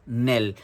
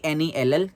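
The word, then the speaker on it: knell: it is known as Nell k n e l l k is silent here but the spelling is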